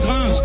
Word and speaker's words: Gringe: Mon putain de nom à moi c'est Gringe, donc tu l'as pas deviné. Donc laisse-moi réitérer, je suis pas une série télé. Ni Jim Carrey dans un costume de caribou pété. Grunge.